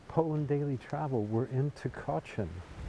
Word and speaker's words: Tykocin: daily travel we're in tachin it's t y k o c i n t chin the C is pronounced like a like a CH and as we're walking